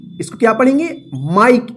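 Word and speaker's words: Mike: इसको क्या पढ़ेंगे माइक इसको मिके मत पढ़िए ठीक है ना क्यों क्योंकि जो इ का उच्चारण नियम हम सीखे थे जिसमें इ तो रहेगा लेकिन इ का साउंड नहीं रहेगा तो क्या था इसका रूल कि जब किसी वर्ड में लास्ट वाला अक्षर ई रहे और उससे पहले वाला भवेल आई रहे तो आई का आई उच्चारण होता है ई का उच्चारण नहीं होता है तो क्या पढ़ेंगे इसको माइक इसी तरह से एम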